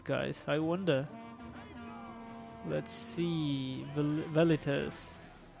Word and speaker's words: Velites: Velites. Probably it's pronounced Velites, actually.